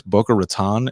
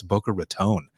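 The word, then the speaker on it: Boca Raton: just I want to make sure that I'm pronouncing it right because uh I was in Florida once and I said is this Booker Raton and they go don't you ever say that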